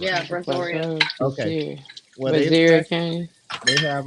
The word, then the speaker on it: Brazoria: We have Barzolia. Is that how you say that? Barzoria. Sorry, guys. Brazoria County. I know it's a county. I just want to make sure I was saying it right. Yeah, Brazoria.